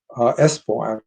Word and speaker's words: Espoo: The second one was taken in a bakery, Halma Bakery in Espoo. Espoo is the way it's pronounced, which is outside of Helsinki, and that was at 6 o'clock in the morning.